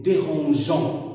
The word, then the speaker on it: dérangeons: Si on le lève, on va dire ne dérangeons. Alors c'est pour cela qu'on a ajouté un E pour la prononcer nous dérangeons, pas les voisins.